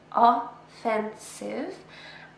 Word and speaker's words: offensive: This word has 3 syllables, offensive, and we stress the second syllable.